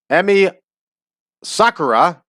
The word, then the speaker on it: Emi Sakura: Trent Beretta in action Emmy Sakura which is the way I heard it pronounced properly last night will wrestle and